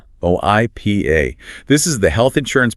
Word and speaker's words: HIPAA: HIPAA, spelled h i p a, pronounced h i p uh. HIPAA.